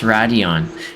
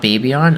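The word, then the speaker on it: Raidillon: chicade print Radeon okay pronounced Radeon not baby on aha anyways um where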